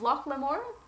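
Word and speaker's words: Locke Lamora: That would be The Lies of Loch Lamore.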